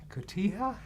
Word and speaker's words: Cotija: I don't you pronounce Liz says James you pronounce I'm gonna say koti Cotija the correct way maybe Tia yeah yeah or